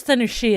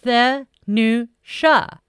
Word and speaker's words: Thanusha: I think it's Thanushia is how the teacher pronounces it, but how can you not pronounce it right? Thanusha. There is no E in there.